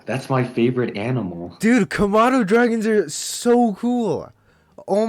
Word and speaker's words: Komodo: It's a Komodo.